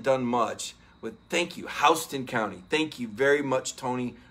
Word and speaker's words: Houston: much with, thank you, Houston County. Thank you very much, Tony Porter. It shouldn't be pronounced that way, but you're not, if you call it Houston County, everybody's like, yeah, you're not from around here.